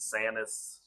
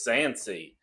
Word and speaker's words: Sansi: Right, or is it the Sansi or is it the Sanis? No, I'm sorry. I mispronounced it. It is Sansi.